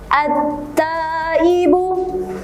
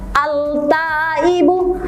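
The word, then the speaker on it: التائب: At-taibu. Silakan ditirukan. Tidak boleh membacanya al-taibu, salah. Harus membacanya langsung masuk ke huruf ta. At-taibu itu adalah contoh cara membaca yang benar.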